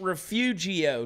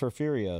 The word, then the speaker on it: Refugio: And by the way, it ain't Refugio, Texas, because that's how we spell it. It's Refugio. It's Refugio.